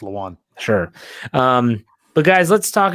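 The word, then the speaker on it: Lewan: It's Luan.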